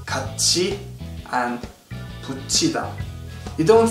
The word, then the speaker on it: 같이: Last but not least, if a syllable ends with tiet and the following syllable starts with e, that tiet will sound like chiet. This is the case with words like 같이 and 붙이다.